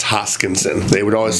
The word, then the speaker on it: Hoskinson: no one can say my last name it's hoskinson they would always say it wrong so my